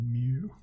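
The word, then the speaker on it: μ: mean well then we use this Greek symbol Mew this is how you say it me this is how you spell it and this is how you need to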